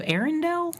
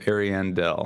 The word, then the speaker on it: Ariandel: How do you say Ashes of Arendelle? Ashes of Ariandel. Ariandel. I missed the I there.